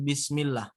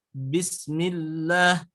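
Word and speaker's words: بسم الله: dalam ayat pertama tadi jangan lupa ketika hub depan hurufba itu harus menekan atau pun harus bismillah jangan mengenteng tajzi jangan bismillah tapi harus bismillah bismillah jadi jangan Bismillahirrohmanirrohim tank gitu ya harus bismillah bismillah terus dalam cara pengucapan masjid atau cara membaca tasdin jadi harus lebih menekan Bismillahirrohmanirrohim ama juga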